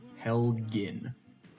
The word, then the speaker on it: Helgen: Hard G. Helgen. Helgen.